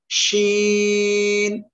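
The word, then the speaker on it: شين: এ অক্ষরটা হলো শিন। শিন শা শা শব্দ হবে এ অক্ষরটা উচ্চারণের সময়, আর এ অক্ষরে আমরা চায়রা লিপ টেনে পড়বো। সবাই একসাথে বলেন তো এ অক্ষরটা শিন।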